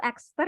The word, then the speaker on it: Exeter: Dan ketika melihat Inggris, melihat Edinburgh, melihat gimana sih pronunciation-nya itu Exeter ya? Is it Exeter? Exeter? Ya, How do you say it? extra.